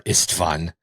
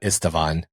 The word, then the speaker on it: Istvan: I really like, I've been trying to do more Istvan because I always thought Istvan, and there is no, you're right. There's no extra syllable there. Yeah. But it feels like there should be.